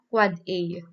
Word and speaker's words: AAAA: So it's pronounced as so the AAAA, so it's pronounced as the quad A, and the MX it is a mail exchange record.